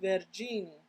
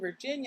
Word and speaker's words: Virginie: Because I saw a video and it said it's pronounced Virginie. And I'm like, am I saying it right? Hopefully. Because I think before I was saying Virginia, and I'm like, that's not her name.